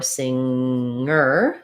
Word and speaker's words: singer: they're one sound like in sing or singer singer just one sound not singer i do have a